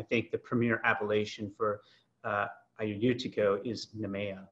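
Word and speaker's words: Agiorgitiko: So, I see here on the Q&A that Rihanna suggests just dropping the AG from the Ayurtiko part of it. So I'll have to kind of keep that in mind when I'm trying to pronounce this. Just forget the AG is even there.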